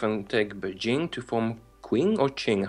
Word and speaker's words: Qing: Oh, I need to reform myself and take Beijing to form Qing or Qing. How do you pronounce that?